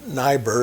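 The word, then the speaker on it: Neibaur: He was a German-speaking Jew, Alexander Neubauer, or Niebuhr, as some people pronounce it.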